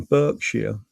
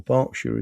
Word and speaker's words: Berkshire: Ace Chase, looking for one in Berkshire. Yeah, or Berkshire is that?